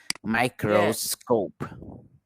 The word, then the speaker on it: microscope: my chrome girl scope microscope yes because if you're going to divide it my crow and then scope next one composite composite